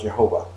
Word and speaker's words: Jehovah: it is pronounced differently in english it is usually pronounced jehovah but some people pronounce